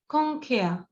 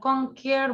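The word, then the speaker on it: conquer: This is কংখেয়া, মানে কংখেয়ার বলবো না, ঠিক আছে? আরটা উচ্চারণ করব না, রটা উচ্চারণ করব না।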